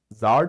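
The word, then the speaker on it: czar: Zars all right but Zar today this word Zar it's pronounced Zar all right the C is not pronounced all right the C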